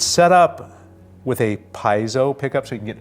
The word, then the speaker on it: piezo: all ironed out it's set up with a piezo pickup so you can get an acoustic sound actually the correct Italian pin it pronounced here's piezo we're Hillbillies out here the supplies I'll pick